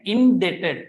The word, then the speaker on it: indebted: line word and indebted can't pronounced B is absolutely silent it is debtors and